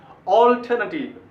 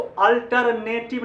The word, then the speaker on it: alternative: ठीक है, आंसर, इसको अल्टरनेटिव नहीं पढ़ना है। ये गलत, बहुत ही गलत उच्चारण, अच्छा भी नहीं लग रहा है सुनने में।